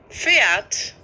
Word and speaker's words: Pferd: Löffel Köpfe Köpfe Köpfe Löffel Löffel Löffel Papier fert بصوا بقى هنا خدوا بالكم من البي بعدها اف نطق ازاي تمام فيرد اللي هو الحصان بص